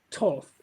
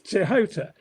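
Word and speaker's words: Tehuti: It looks as though it's pronounced Toth, but it isn't. It's Tehota.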